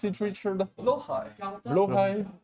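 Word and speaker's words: Blåhaj: That is the Swedish pronunciation? It is. Blohai. Okay. Blohai. But we call it Blahaj because it's funnier. Because I didn't know how to pronounce it correctly. No, it's Blohai, but Blahaj is just so much funnier.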